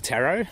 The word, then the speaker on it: Tarot: So on the next comment, this one's from Black Tarot, or Black Tarot. I'm pretty sure it's pronounced tarot, like tarot cards.